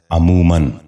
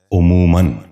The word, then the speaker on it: عموماً: غور سے سنیے، عقل۔ 11واں لفظ ہے عموماً۔ یہ غلط تلفظ ہے، درست تلفظ ہے عموماً۔ دوبارہ سنیے، عموماً۔ بچوں